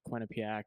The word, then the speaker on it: Quinnipiac: Quinnipiac.